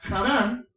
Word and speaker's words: Harán: una región llamada a harán en hebreo o Adán en español porque la H es muda como se escribe con h en español es muda la H por eso se dice harán pero es harán y